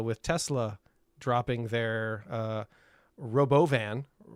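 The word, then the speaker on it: Robovan: Tesla dropping their uh, Robo Van. Did you hear how he pronounced that? The Robboan. Not Robo Van.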